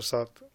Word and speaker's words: Sat: So it's pronounced Sat.